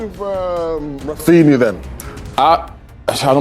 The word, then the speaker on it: Raphinha: Say his name the way the Brazilian commentators say his name, the way that we live. Raphinha.